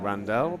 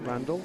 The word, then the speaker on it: Randall: I know you might be thinking Randall, but we've had it confirmed that he pronounced it Randall, so we'll stick with that.